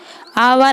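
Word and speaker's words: hour: आवर, आवर में H silent है।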